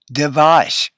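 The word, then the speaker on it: דבש: put it all together you begin with the DU and E together it's de the second letter has the V sound and a vowel VA and the last letter we have not had yet but it's the sh so we end up with de devash honey okay now it's your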